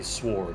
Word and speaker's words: sword: So it annoys me now when people say sword, because there are like non-natives who say sword or castle instead of sword and castle. Sword. That's brilliant. Yeah, because they don't know the W is silent.